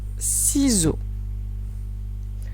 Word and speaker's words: ciseaux: Et un petit indice pour la lettre X dans ciseaux, on ne l'entend pas pour la simple raison qu'elle marque le pluriel.